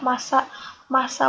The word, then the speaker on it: masa: Tulisannya MASA. Berbeda ya cara penulisannya, maknanya juga berbeda, tapi cara pengucapannya bunyinya sama. Masa jenis, masa lalu, masa depan sama.